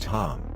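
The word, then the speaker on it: חם: his name is ham in Hebrew pronounced Tom and means hot or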